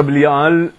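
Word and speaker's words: בליעל: La palabra Bli'al se escribe Bet Lamed Yud Ain Lamed, que leído sencillamente dice Bli'al, sin nada que esté por encima de él.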